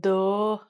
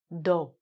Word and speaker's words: dough: Now this pronunciation is strange. It looks like dough, but it's actually just dough.